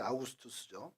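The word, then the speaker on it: Augustus: 축조한 한를 로마황제 가이사 아구스도 성에서 아구스도 아고 하는데 아우구스투스 그 로마 발음으로 하면 어 여러분이 잘 알고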